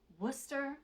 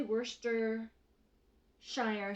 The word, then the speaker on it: Worcestershire: ground beef I'm gonna add some Worcester sauce Worcester sauce you do not say Worcester Shire sauce I know that's how you would phonetically pronounce worcestershire sauce but in Worcester sure